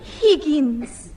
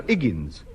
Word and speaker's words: Higgins: egg egg hi hen Higgins no no no iggins the the H is silent as in all now